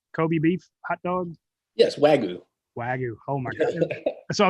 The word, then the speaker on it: Wagyu: Yes, Wagyu.